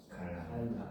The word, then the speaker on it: 칼날: 자, 칼날도 역시 발음이 어떻게 됩니까? 칼날. 이제 칼날이 되잖아, 그치? 그래서 이 경우도 날 요렇게 발음이 되고, 역시 순행동화의 완전동화의 유음화가 된다.